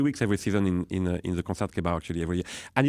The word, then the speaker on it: Concertgebouw: You're listening to the Royal Concert Jibo? Somebody called in later and said, Josh, I know that you're a student. You do a great job, but it's pronounced Concertgebouw. Concertgebouw.